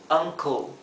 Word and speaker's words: uncle: Traten de evitar pronunciar la e porque este tipo de sonido en inglés la e se omite, sería co. Co, por lo tanto, esto sería uncle.